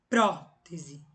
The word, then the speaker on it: prótese: Prótese. Então, prótese. Última, penúltima, antepenúltima. Tá aqui o acento, proparoxítona.